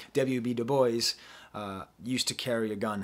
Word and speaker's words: Du Bois: report w.e.b du bois it's so hard to pronounce his name not french wb du bois used to carry a